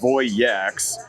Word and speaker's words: Voyax: We're at the Voyax booth right now, and it's important that we call this out for this video because we've now mispronounced the name of this kayak not once but twice. So it's, first of all, Voyax, and then the second